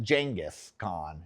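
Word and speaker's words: Genghis Khan: I think it's pronounced Jenis Khan if I'm if I'm right there.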